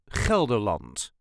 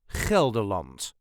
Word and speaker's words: Gelderland: way us duchies say kerland Kant there is a very slight emphasis on the first syllable kelant all the letter will